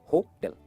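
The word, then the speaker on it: hotel: क्या कहते हैं इसे? होटल या होटल? इसकी सही प्रोनाउंसिएशन है होटल। जैसे टेल बोलते हैं ना, टेल, होटल, होटल, राइट? जो टेल है ना उस पर स्ट्रेस करना है, होटल।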